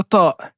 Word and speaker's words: ط: qu'on a vu précédemment mais avec un son qui est emphatique, un son qui est grave. Donc on va devoir aussi lever l'arrière de la langue pour prononcer la lettre ta.